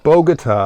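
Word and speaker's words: Bogotá: wrong bogota bogota guitar there's no tar in bogota um bogota that's what i said bogut that's what i said three bogota she keeps out of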